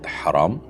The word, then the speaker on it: হারাম: উত্তর হলো না। এই বর্ণের মধ্যে কোন পার্থক্য নেই। দুইটাই বড় হা। অর্থাৎ হারাম। কন্ঠনায় থেকে যেটিকে আমরা উচ্চারণ করি সেই হাই একটাই হা বর্ণ একটাই কিন্তু অর্থ দুইটা।